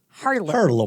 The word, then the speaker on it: Harlem: Harlem. We don't say it like that. We just drop that R.